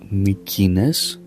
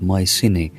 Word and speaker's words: Mycenae: Such tomb was the one in a place called Mykines, Mykines, which you pronounce Mycenae, and it's called the tomb of Atreus.